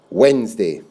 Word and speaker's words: Wednesday: pit day that week remember that extra silly syllable nez in the middle of wednesday not Wednesday Wed nose